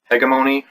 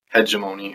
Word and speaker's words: hegemony: war between two forces the heg hegmon or if you PR prefer the American pronunciation the hemony or something like that that's stupid and the